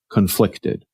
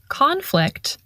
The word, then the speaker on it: conflict: that a person feels conflicted and notice the different pronunciation between the noun conflict and the adjective conflicted we stress the first syllable in the noun conflict and we stress the